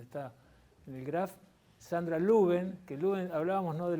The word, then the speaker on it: Lubén: registró, lo tomaron mal, debería escribirse Lubains, pero lo pronuncia Luben y quedó Luben.